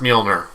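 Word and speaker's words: Mjölnir: And I know it's pronounced Mjolnir, by the way.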